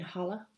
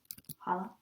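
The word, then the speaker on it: challah: Hala. Is that? Yeah. Oh, cool. It's like how Hanukkah is sometimes spelled with CH.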